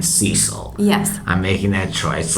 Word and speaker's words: Cecil: I've heard it pronounced a couple of different ways. I'm going to call this lion Cecil.